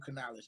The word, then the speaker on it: Canales: the new hire uh Dave Canales that's how you pronounce Dave Canales we gonna be on